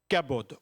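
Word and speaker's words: כָּבוֹד: Le mot gloire en hébreu, c'est le mot kabod. C'est facile à prononcer, kabod. On le dit tous ensemble? Kabod. K-A-B-O, avec un truc dessus, D. Kabod.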